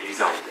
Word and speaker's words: Elizalde: Elizalde, vabbè, io lo pronuncio alla spagnola, ma si può pronunciare anche Elizalde, no?